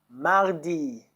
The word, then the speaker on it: mardi: Mardi. Tuesday is Mardi.